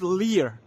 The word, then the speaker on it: Lear: LIER, maybe it's Lear. Liar is not a very positive. Lear, the pronunciation is Lear.